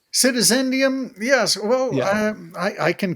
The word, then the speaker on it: Citizendium: Did I pronounce that correct? Citizendium, yes.